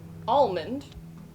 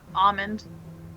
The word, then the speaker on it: almond: He said an almond. Okay, Kate, Almond. almond. Oh, so you don't pronounce the L, is what you're saying?